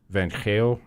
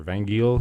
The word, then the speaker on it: Van Geel: And the sort of genius in that group is this guy, Una Van Geel, or Van Geel, if you read it with English pronunciation.